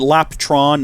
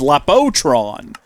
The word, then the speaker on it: Lapotron: And it's not spelled like that, apparently. Is it Laptron, not Lap... Oh, it's Lapotron.